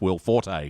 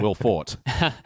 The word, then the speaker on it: Will Forte: we've recorded that episode I now know it's pronounced Will Forte yeah and not will fought well I like Will